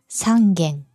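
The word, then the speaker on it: 三軒: 9 căn 10 căn Chỉ riêng số 3, đọc là "gen", "sangen".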